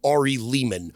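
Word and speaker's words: Ari Lehman: r campers it's me Ari Leman rhymes with demon the first Jason Vorhees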